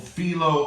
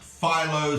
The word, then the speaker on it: Philo: course is someone called filo of Alexandria sometimes pronounced Philo sometimes filo that feel on in the Greek I'm gonna call him I'm gonna call him Philo because that is what